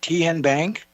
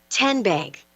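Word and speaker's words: TN Bank: How do you say the name Ken Bank? Nope. Tin Bank? Uh-uh. So, what is it? Ten Bank. 10 as in Tennessee.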